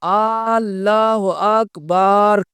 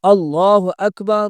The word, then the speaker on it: اللہ اکبر: کہ اللہ اکبر کی با کے آگے الف بڑھا رہا ہے، وہاں پر الف نہیں ہے، وہ آگے اس کی را ہے، لیکن وہ اللہ اکبر کر رہا ہے۔ اب یہ اسی طرح یہ تلفظ بھی غلط ہے اور اس کا معنی بھی غلط ہو جاتا ہے، حالانکہ صحیح جو لفظ ہے وہ اللہ اکبر اللہ اکبر اللہ اکبر یہ تلفظ ہے۔ صحیح معنی جو لفظ